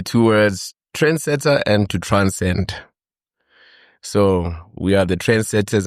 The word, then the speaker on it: TRNSD: Am I pronouncing it right? D. TRNSD. Transcend. Okay.